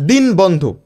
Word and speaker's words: দীনবন্ধু: দর্শি বন্ধু, দিন বন্ধু, বাট উচ্চারণ কি হবে? দীনবন্ধু, দীনবন্ধু, দয়রস্যি দন্তন্নয় ওকারে দীন বন্ধু, বয়কা দন্তান্ন বন, ধয়রস্যুকারে ধু, বন্ধু।